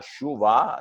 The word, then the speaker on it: Schober: hiciste un test de Schober o de Schorber, recuerden que yo lo pronuncio con la rauma astrohúngara, Shuba, de ser, que es